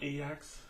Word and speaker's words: Ajax: Like in today's case, Ajax or Ajax as it's pronounced, won the first game 1-0 in Tottenham.